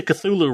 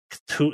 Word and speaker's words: Cthulhu: Technically we all say Cthulhu wrong.